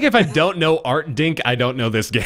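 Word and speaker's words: Artdink: again uh so Playstation One game developed by Art dink anybody ever heard of them what art say it again spell it art a r t d i n k art dink art dink uh published by Art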